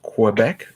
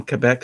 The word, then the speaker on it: Quebec: Yeah, the Quebec thing is interesting because you look at most QU words and it's quoi, but then you hear somebody from Quebec say Quebec and it's Quebec. Oh, because in French it's Quebec. Ah. But it's perfectly okay to call it Quebec in English. Absolutely. Yeah. What's not good is Quebec.